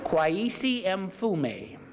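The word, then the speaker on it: Kweisi Mfume: Kwesi Mfume. Sort of like my initials, Mfume.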